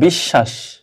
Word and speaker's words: বিশ্বাস: দুইবার উচ্চারিত হবে তাহলে বিশ্বাস দেখো বিশ্বাস এদিকে যদি বোঝানো যায় বোঝা না গেলে নিচে লিখে দিচ্ছি বিষ শ্বাস দেখো এখানে স এর সাথে ব আছে স দুইবার উচ্চারণ হবে বিশ্বা আর শেষে যত